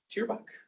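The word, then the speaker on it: Thierbach: Teer Buck is how you say his name.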